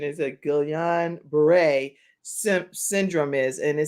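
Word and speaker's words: Guillain-Barré: gillian brewer and i was listening to the pronunciation is that gillian beret syndrome is and it says that gillian beret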